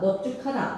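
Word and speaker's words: 넓죽하다: 스테본 받다 받고 밥지는 비읍으로 발음하시고 넓다 넓고 넓지는 리을이었으면서 뒤에 둥글다나 죽하다나 적하다가 왔을 때는 어떻게 발음해라? 넙둥글다, 넙죽하다, 넓적하다라고 발음하셔야 돼요.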